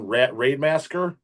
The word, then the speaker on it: Rademassaker: I don't even know if I've ever been pronouncing it. It's Raidemasker, Yeah, Raidemasker.